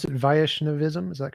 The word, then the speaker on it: Vaishnavism: So tell me some more about uh how do you pronounce it? Vaishnavism. Is that correct? Vishnavism.